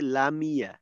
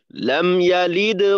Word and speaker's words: لم يلد: তাওয়াসুত জজম যুক্ত মিম, তাওয়াসুত যদি আদায় না করি তখন কিন্তু মিমের জজমটা অস্পষ্ট হওয়ার কারণে অনেকটা জেরের উচ্চারণ হয়ে যাবে। তখন লাম ইয়া এর পরিবর্তে লামিয়া লামিয়া, যেখানে কিনা মিমে ছিল জজম ওইখানে হয়ে যাবে অনেকটা জেরের উচ্চারণ। তো লামিয়া যেন না হয় লাম ইয়া, লাম ইয়া।